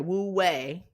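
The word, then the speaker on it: 無為: And so, or Wu Wei, sorry, Wu Wei is how you pronounce it correctly.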